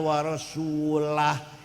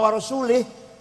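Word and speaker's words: رسولُه: Yang benar bacanya. Waallaha barium minal musyrikina rasulah. Allah tidak melindungi orang musyrik dan Rasulullah pun tidak melindungi orang musyrik. Jadi kalau baca warasulih Allah tidak melindungi orang musyrik dan tidak melindungi Rasulullah.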